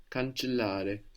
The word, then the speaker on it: cancellare: And also there's two L's in this verb. Cancellare. Good, and we want to pronounce both. Yeah, we would use the verb as cancel, not cancellation. Cancellare. Both of those L's. It might feel like a little bit of a pause, actually.